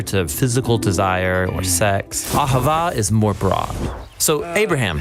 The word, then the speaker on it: ahava: It's pronounced ahava.